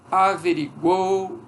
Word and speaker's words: averiguou: Então, averiguou, pode sair averiguou, averiguou, ok? Porque tem uma sílaba muito pesada. Mas a ortoepia é essa. Averiguou, averiguei, averiguou, apaziguou. Ok? Pronunciado de uma só vez, é só uma sílaba.